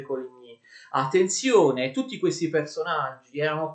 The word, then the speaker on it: Coligny: Un altro dei condottieri, dei leader dei calvinisti era l'ammiraglio di Coligny, che si scrive così e si legge Coligny.